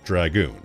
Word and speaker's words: Dragoon: So I'm pronouncing it the way the game pronounces it.